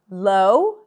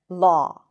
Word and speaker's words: law: So not author or low, but author and law.